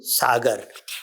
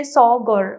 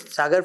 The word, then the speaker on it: Sagar: And the Britishers, because they could not pronounce it, they used to say Sawgur, Saugor. Okay. And when was Sagar found?